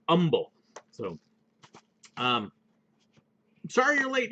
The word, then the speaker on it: Humble: you're ever in texas they don't pronounce the h it's humble so um sorry you're